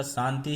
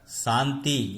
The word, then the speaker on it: शांति: इसी प्रकार शांति, शुद्ध उच्चारण इसका शांति है, लेकिन ज्ञान न होने के कारण शांति यानी ता में बड़ी ई की ध्वनि सुनाई देती है।